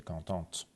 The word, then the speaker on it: contente: حالا اگه یه خانم اینو بگه content یه آخرش میگیره، ته آخرش تلفظ میشه contente.